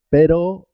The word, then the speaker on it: pero: Cuando la R está al comienzo de la palabra, se escribe simple, se escribe una sola R, pero suena doble, suena doble.